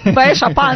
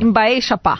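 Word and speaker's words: Mba'éichapa: Nós estamos falando a pronúncia errada, né? Como que é? Até que a Marilu está estudando, como é que é? Fala. Embaixapá. Baixapá.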